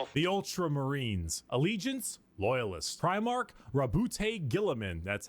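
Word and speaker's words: Roboute Guilliman: Primark Rabbout Gilaman.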